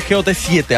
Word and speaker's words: GOT7: Okay, eso es, se escribe GOT7, así se lee Got7. Así mismo, GOT7.